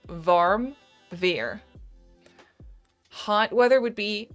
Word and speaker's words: warm: The W is more like a v sound in Dutch.